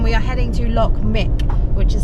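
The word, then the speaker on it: Muick: We're back on the road and we are heading to Loch Morich, which is spelled M-U-I-C-K.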